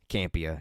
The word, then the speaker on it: Campea: Campea, yeah.